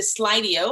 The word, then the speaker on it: Slido: So the chat, I think, is on the left-hand side, and you can go to Slido.